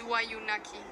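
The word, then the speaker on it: Wayuunaiki: The language of the Wayuu is Wayunaki. The consonants are long and the accent generally falls on the second syllable of the word.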